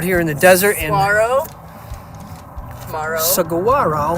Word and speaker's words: Saguaro: We're out here in the desert in Saguaro. I don't know if you pronounce that G or not. Some people do, some people don't. I try to half pronounce Saguaro.